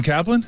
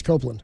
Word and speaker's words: Copeland: scratched out Steve Young that's not how you say my name by the way Adam Kaplan it's Copeland yeah say my my